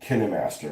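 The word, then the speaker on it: KineMaster: You know, the one I use on the phone is called Kinn Master. It's spelled Kind Master.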